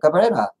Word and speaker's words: Cabrera: That's how, I mean, when I see that, it's a Spanish name. I go, well, that's how you say it, Cabrera.